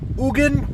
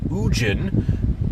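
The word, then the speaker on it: Ugin: Since we get our powers from Ugan, or some might pronounce it Ujin, depends on how you want to pronounce it. I've heard both.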